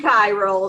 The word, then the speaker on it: chiral: I've also heard someone say, well, somebody says corral. And I'm like, I don't know. I learned chiral, so I'm sticking with it. Okay. Yeah. Like Cairo. Yeah, but it's spelled different.